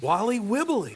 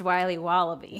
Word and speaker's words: Wiley Wallaby: Wally Wibbly. Wiley's Wallabies. Wallaby Wallies. Wilby Wababy. It's pronounced Wiley Wallaby. Well, it's very good. It's called Wiley Wallaby, and it's delicious.